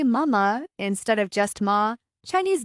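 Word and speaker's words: 妈妈: The pronunciation mama uses a high flat tone repeated twice, like a child's clear, loving call to their mother.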